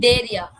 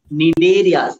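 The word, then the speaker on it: Cnidaria: Nidaria. Nidaria. C silent pa. C is silent.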